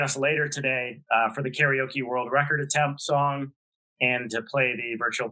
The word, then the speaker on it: karaoke: the american pronunciation is karaoke it's incorrect nobody will correct it well the asian american journalists association does now it's karaoke kara means empty like in karate you know empty hand